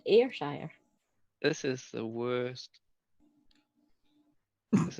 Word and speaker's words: Ayrshire: It's pronounced Ayrshire.